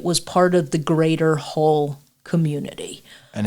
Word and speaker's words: Hull: No, it's Hull, like the hull of a ship.